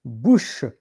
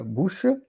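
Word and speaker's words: bouche: in the mouth and in French it's Bush b o u c h e Bush and sometimes you hear Bush sometimes you hear bush because the E can be silent so Bush yeah are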